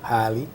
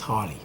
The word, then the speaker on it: Harley: And Harley, right? I pronounced that right? No, it's Harley. Harley.